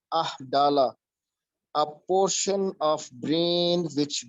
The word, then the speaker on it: amygdala: The left side of hippocampus, the flow is minus 4.1, and on the right side of amygdala, just listen the pronunciation, amygdala, a portion of brain which deals the shape.